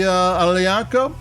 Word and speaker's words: Aglianico: And then we go to the Aglianico, and that's Aglianico. And there again, since it's a GL, the G is silent, which is possibly the